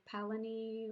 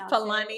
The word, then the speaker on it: Palani: So that you don't pronounce Palani Road, the incorrect Palani, or Palani. That's not how you pronounce it's Palani. It's Palani.